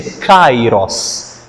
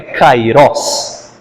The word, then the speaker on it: Kairos: A pronúncia certa, perdoem-me a chatice, é Kairos, não é Kairos. Isso aí é aportuguesamento.